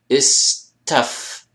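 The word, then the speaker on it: استفهم: Right, istafama. Of course, ista at the beginning, but remember this first root letter becomes like the ending of this syllable here. So istafhama.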